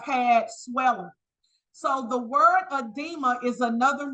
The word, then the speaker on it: edema: okay moving right along the next word it's pronounced edema edema E de M it talks about it on